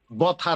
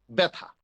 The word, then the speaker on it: ব্যথা: যেমন ব জফলা থ আকার, বথা না, উচ্চারণটা কি? ব্যথা। এই যে বটাকে একটু একারান্ত করে দিল, ব্যথা।